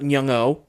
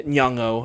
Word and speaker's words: Nyong'o: We have Lupita Nyong'o, or just Nyong. How you pronounce her name? It's Probably got it right difficult. the second time. Yeah, Nyong'o, I believe.